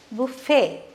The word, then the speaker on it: buffet: used uh in english buffet is see the t is silent okay buffet that's what it's pronounced as buffet means where spread of